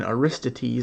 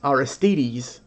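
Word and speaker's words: Aristides: to say his name I was always saying Arista T's like he's from Greece but it's our STDs Akeno iris TVs like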